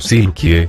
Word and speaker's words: Silke: 2016, el personaje debutó bajo el nombre de Silke, aunque pronunciado como Silkie, como suele hacerse la